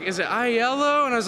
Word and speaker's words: iello: we were taking bets on how you guys pronounced the name of the company and I was there like is it ILO and I was like well everything's yellow are